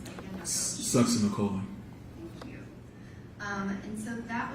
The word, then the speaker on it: succinylcholine: And how do you pronounce that again, Dr. Succinylcholine.